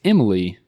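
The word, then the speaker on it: Emilie: uh m emil emily it's emily i believe but it's just spelled with an ie at the end instead of a y so emily de revin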